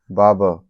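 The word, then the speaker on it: barber: बाबर, ठीक है, आर silent है, मतलब आपका नाई।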